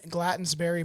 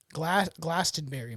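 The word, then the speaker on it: Glastenbury: So, what is happening in Glattensberry Mountain? Glastenberry Mountain. I always mispronounce it.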